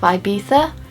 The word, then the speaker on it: Ibiza: Notice that perfect pronunciation of Ibiza.